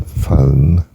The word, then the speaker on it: phone: Well, the H is silent, the P is F, as in phone, you know, English spelling, P-H-O-N-E.